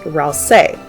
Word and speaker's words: Ralsei: Suzy made a typo of Ralsei's name in Chapter 2, which heavily suggests his name is supposed to be pronounced Ralsei.